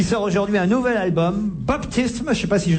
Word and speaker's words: Baptism: aujourd'hui un nouvel album baptisme je sais pas si je le prononce très bien mon cher vel pardon comment vous dites ça s'écrit BAP TM faut dire baptisme baptisme baptisme baptisme nouvel